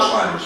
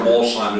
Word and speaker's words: Alzheimer's: Alzheimer's.